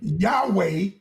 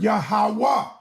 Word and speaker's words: Yahawah: being mis misled is the word Yahweh is a mistransated word. It's not a Hebrew word. There's no e in the ancient Hebrew. Come on, man. So, we could never use Yahweh or pronounce Yahweh without an E letter. That's why we use the word Yahawah.